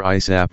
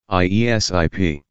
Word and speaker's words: ASAP: You pronounce this either ISAP or spell it out. I sip.